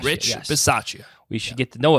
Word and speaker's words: Bisaccia: I literally was just, how do you pronounce the coach's last name? Rich. We should know this. Bisaccia. Rich yes. Bisaccia.